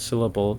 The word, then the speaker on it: syllable: the words syllable like I know that the word syllable gets the syllable on the first syllable of the word syllable but things like